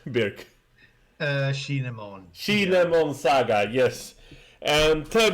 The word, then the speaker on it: Shinemon: Shinemon.